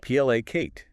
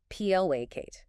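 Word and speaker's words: placate: PLA Kate. Two syllables. Stress on the first. PLA Kate.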